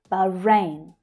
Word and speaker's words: Bahrain: Bahrain. Bahrain. Now, the long vowel sound is actually in the first syllable, ba, but the second syllable is the one that's stressed. Bahrain, Bahrain, Bahrain.